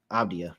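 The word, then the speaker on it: Avdija: Avdia. Yeah, that's how you say it. Avdia.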